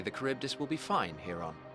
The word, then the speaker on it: Charybdis: I dare say the Charybdis will be fine here on.